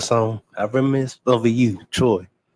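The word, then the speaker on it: T.R.O.Y.: I reminisce over you, Troy. No T period R period O period Y. That's how it's pronounced.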